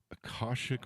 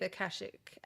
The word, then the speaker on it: Akashic: something called, and hopefully I don't butcher this, Akashic readings. Yeah. So Did I pronounce that right? yeah, Akashic.